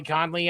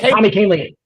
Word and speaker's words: Kahnle: Tommy Conley, I think that's how you say his name.